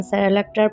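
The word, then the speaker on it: Cerelac: মাঝেমধ্যে বানিয়ে দিই আচ্ছা আমি যেটাকে সেরালাক সেরালাক করছি উচ্চারণটা হচ্ছে সেরেলাক তো আমি ওটা মানে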